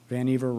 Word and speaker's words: Vannevar: Vannevar rhymes with achiever, or in his case, perhaps overachiever.